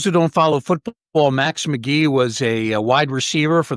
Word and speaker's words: Magee: uh the name though not spelled the same way pronounced the same way Max McGee I would also um